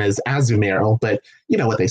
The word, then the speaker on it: Azumarill: some people I mean I've always called it a zoom rail but apparently the official pronunciation is as numeral but you know what they say tomato tomahto